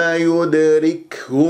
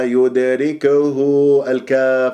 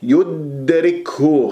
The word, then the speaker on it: يدركه: ثم ثم يدركه الموت الدال مقلقله في كلمه يدركه ساكنه في وسط الكلام قلقل الصغرى والكاف مهموسه فالبعض يقلقلها يداريكه فانتبهوا يدرك يدرك يدرك يدرك الموت بهذه الطريقه صفيناها لا تقلقل يدركه او يدركه تبالغ في الهمس لا تبالغ في الهمس ولا تقلقلها والدال مقلقله قلقله الصغرى